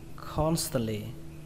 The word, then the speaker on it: constantly: Ở đây trọng âm của nó rơi vào âm đầu tiên, âm con. Và các bạn nhớ quan trọng ở đây là âm sờ nhé, không thể bỏ âm sờ này được. Cái âm T này, âm T này thì các bạn có thể bỏ.